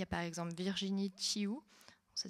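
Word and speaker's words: Tiou: Il y a par exemple Virginie Chiou, ça s'écrit T-Y-O-U, qui a écrit une série de livres qui s'appelle Clicky.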